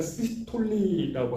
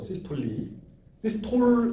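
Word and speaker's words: systole: 그래서 어찌됐건 세포 내에 이게 심근이 막 수축하는 시기를 우리가 시스톨리라고 하고, 시스톨 아니고 시스톨리예요, 발음이.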